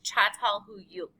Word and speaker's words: Çatalhöyük: So it's Çatalhöyük. And all capitals means that is our syllable of emphasis.